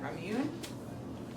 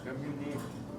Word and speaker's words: Ramune: Ramune. Yes. Remune. Remune. Yeah, this and the con this is the E. Okay, the E, this slanted E makes an A.